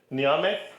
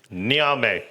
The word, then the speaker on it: ñame: Ñame. Ñame.